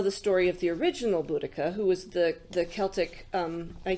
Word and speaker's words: Boudicca: was fascinated that that the way that I've always heard it mispronounced it's still being mispronounced is bloody saya or there's there's Boadicea cisco out of San it's they've since decided that it's Boudicca that that was the